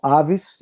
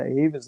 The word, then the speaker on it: Avis: Talvez as pessoas pronunciem como Avis. Eu sei que tem no Brasil, porque eu já aluguei carro da Avis no Brasil, mas é Avis, né?